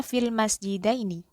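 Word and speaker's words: في المسجدين: Ini bacanya fil masjidaini. Cara bacanya huruf sebelum ya itu kita baca fathah. Ya-nya kita sukun sehingga dibaca diftong atau day gitu ya.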